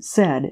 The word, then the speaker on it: Said: in bakersfield california and he pronounces his own name said as in he said she said all he wants out